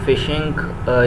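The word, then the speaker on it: phishing: तो फ़िशिंग इसको हम F पढ़ते हैं, PH को जब इकट्ठा पढ़ते हैं इंग्लिश में प्रोनाउंस एज फ़िशिंग।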